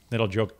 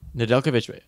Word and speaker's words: Nedeljkovic: Their third stringer, Nedeljkovic. I can't say his name for some reason. It's just like Djokovic.